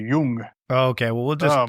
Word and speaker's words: Jung: It depends if you, use the pretentious German pronunciation. Jung is what you say if you're using the Americanized pronunciation. If you're using the Germanized, it's supposed to be Jung.